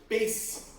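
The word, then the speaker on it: בית: You might even see signs that say like, the synagogue is called Beit Yaakov, but they spell it Beis Yaakov, because Beit is house, and they pronounce it as an S sound.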